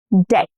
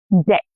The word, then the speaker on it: debt: Debt, debt, not deb. No b. Debt.